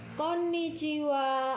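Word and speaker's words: こんにちは: siang hari bertemu pada siang hari kita mengucapkan Konnichiwa Hai Konnichiwa silakan ditirukan Konnichiwa Hai sekali lagi Konnichiwa tulisannya adalah berikut bacanya Konnichiwa Kapankah Konnichiwa diucapkan yaitu ketika bertemu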